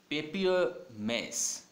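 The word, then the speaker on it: papier-mâché: बार ही देखा हो, पेपियर मैस। क्या है वर्ड, देखो इस वाले आर को प्रोनाउंस नहीं करना है ना, पेपियर में जो आर है उसको बोलना नहीं है, पेपियर मैस।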